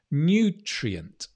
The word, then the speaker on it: nutrient: new and old new nutrient again nutrient did you notice the stress changed from nutritious to new treatment on the first syllable nutrient brilliant nutrients we